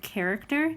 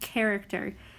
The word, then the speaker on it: character: I say the word character I say CC character even though it starts with a CH we pronounce it as character now right Bel below